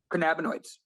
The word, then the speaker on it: cannabinoids: say that anyways um we're gonna break this down into phonetic syllables can can nabonoids cannabinoids you did it all